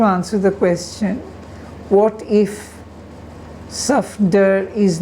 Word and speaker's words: Safdar: FD, if indeed when they're introduced to a man called Safdar, they mispronounce the name as Saftar?